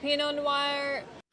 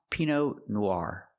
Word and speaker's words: Pinot Noir: Here they have Pinot Noir. We don't pronounce this wine Pinot Noir. It's not Pinot Noir. It's pronounced Pinot Noir. Use the R sound like car and far.